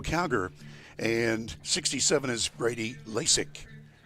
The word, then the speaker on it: Lasic: and 67 is Brady Lasic. That is Loic, by the way. That's how he pronounces that I practiced and messed it up.